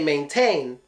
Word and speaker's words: maintain: that's my guess but I'm sure we say maintain it doesn't get the put in T but I'm guessing on